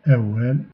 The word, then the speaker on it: awal: W, c'est un “oua”, exemple “awal”.